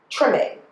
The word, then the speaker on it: Treme: Treme.